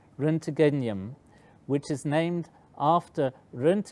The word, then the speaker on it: roentgenium: cry sealing of element 111 which was called roentgenium and you see you can remove this cube